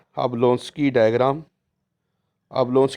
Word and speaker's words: Jablonski: इसे हम कहते हैं अब लोस की डायग्राम अब लोस की डायग्राम इसमें जो जे है यह य जो है यह साइलेंट है तो अब लोस